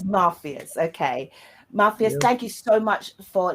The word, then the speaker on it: Muffius: want to am I am I pronouncing the name right is it muus no you're not no you're not it's ma everyone gets it wrong but it's mafus mafus ma everybody is mafus